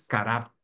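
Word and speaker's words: קרב: acercar la palabra acercar en hebreo es cará con c a r a acento en la car b y significa aproximarse acercarse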